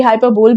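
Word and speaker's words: hyperbole: The poet uses हाइपरबली। बेटा ये जो टर्म है इसका प्रोनाउंसिएशन हाइपरबली ही होता है। देखिए हाइपरबली ये पूरा अच्छे से मैंने एक्सप्लेन भी यहाँ किया है, इसे कभी भी हाइपरबोल नहीं कहते।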